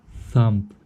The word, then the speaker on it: thumb: данном этапе как бы thumb, видите слово thumb, я практически его не произношу.